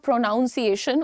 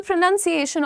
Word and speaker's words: pronunciation: Next देखते हैं, अभी मैंने आपसे कहा प्रोनाउंसिएशन, बहुत सारे लोग कहते हैं प्रोनाउंसिएशन, which is incorrect. It is not pronunciation or pronunciation. The pronunciation of the word is pronunciation. अब यहाँ पर स्पेलिंग देखो भाई, NUN को तुम नाउन तो नहीं पढ़ते हो ना, NOUN को तुम नाउन पढ़ते हो, तो ये जो उच्चारण की अंग्रेजी हो जाती है, दैट इज प्रोनाउंसिएशन।